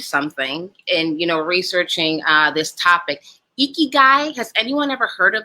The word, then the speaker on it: ikigai: Ikigai, has anyone ever heard of that term? Ikigai. It's a Japanese term. It's spelled Ikigui.